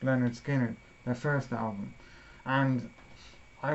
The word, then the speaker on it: Lynyrd Skynyrd: that I picked up Lynyrd Skynyrd's pronounced Leonard Skinner the first almond and